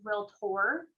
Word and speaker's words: realtor: You know, sometimes people say that term wrong, and I hear that sometimes I say it wrong because of my Minnesota accent, but it's realtor.